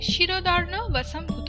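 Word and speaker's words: ক্ষীরোদার্ণবসম্ভূত: ক্ষীরদার্ণ বসম্ভূত, এটাকে আমি শিরদার্ণ বসম্ভূত বললাম। ক্ষিয়র উচ্চারণ বাংলার ক্ষয়ের মতো হলেও ক্ষিয়র উচ্চারণ সংস্কৃততে শয়ের মতো উচ্চারণ হয়।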